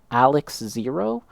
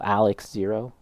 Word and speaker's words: XARX-Zero: And so, the pronunciation I think is going to be Alex Zero. You know, say the X and the A and the R is more of like an L. So, Alex Zero.